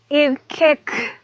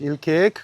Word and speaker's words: ILKeek: So guys, this is ill cake pit gourmet. Am I pronouncing it right? That's correct. Il cake pit gil cake pit gourmet.